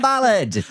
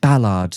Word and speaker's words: Ballard: Let's welcome this week's wonderful guest, Tom Ballard. Hello, Sam. How are you? Is it Ballard or Ballard? I say Ballard. Ballard. But you can say whatever the hell you want. Ballard.